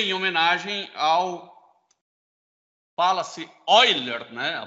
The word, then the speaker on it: Euler: Ele tem infinitas casas decimais, por isso que a gente chama ele de E em homenagem ao, fala-se Euler, né? A pronúncia, mas se escreve Euler.